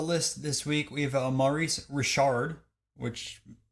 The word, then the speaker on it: Maurice Richard: Starting off the list this week, we have Maurice Richard, which pronounced it correct this time, but $1,100 for a 1952 Parkhurst.